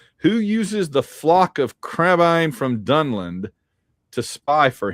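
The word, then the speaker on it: Crebain: They spell it's C reb A I N. Crebane, but that's not how they say it. Yeah, I tried to say it the way they say it in the movie so you'd at least have a fair chance.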